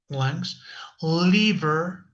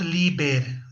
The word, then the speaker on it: liver: So brain, heart, lungs, liver, please, it's not liber, no es liber, con la B labiales, con la B dentilabial, liver, okay?